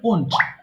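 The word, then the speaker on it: won't: আচ্ছা, এটা কিন্তু ওয়েন্ট হবে না, উচ্চারণ হবে ওন্ট।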